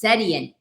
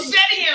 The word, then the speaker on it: Setian: And his last name is pronounced Setian. Oh, Setian.